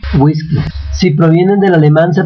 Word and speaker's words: whisky: provenientes de lenguas extranjeras si provienen del inglés se pronuncia como u y como G whisky whisky si provienen del alemán